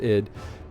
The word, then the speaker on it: id Software: or or ID software I think it's supposed to be pronounced ID um and it it